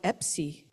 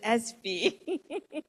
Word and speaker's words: Espy: year and a half I've been calling you John Epsy and a kind teacher instructed me that is espv so John espv hello